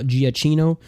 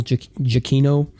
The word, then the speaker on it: Giacchino: of it like Michael people I guess have been mispronouncing this guy's name for years because I've always heard Michael Giacchino but I think it's Michael chiquinho I mean he his